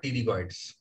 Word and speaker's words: pterygoid: Pterygoid में spelling start with P और P is silent, so pterygoid कहते हैं उसको, है ना?